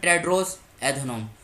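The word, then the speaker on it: Tedros Adhanom: टेड्रोस एधनोम। यहाँ पे spelling लिख देता हूँ, TEDROS, टेड्रोस ADHANOM, टेड्रोस एधनोम।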